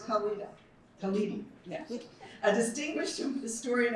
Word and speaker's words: Khalidi: We are honored to welcome Rasheed Kala Khali. No, it's Khaled.